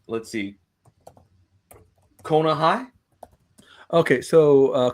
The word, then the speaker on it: Coneja: Well, let's talk about, is it pronounced, let's see, Konahai? Okay, so Coneja is from Chispa Comics. Yeah, Coneja.